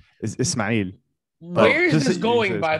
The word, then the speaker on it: Ismail: I grew up in America, so it's Ismail, and then Ismail. The correct way to say it in Arabic is Ismail.